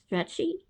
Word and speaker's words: Strachey: Cheerful Weather for the Wedding by Julia Strachey. I'm not sure how to say it. Strachey?